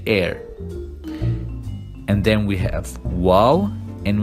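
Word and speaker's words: واو: And then we have Waw, and we pronounce it W like a W.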